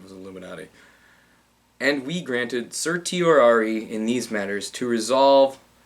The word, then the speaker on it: certiorari: it started with C it rhymes with Illuminati where is it passed away there's and we granted certiorari I told you it remind your Ryan was Illuminati and we granted certiorari in these matters to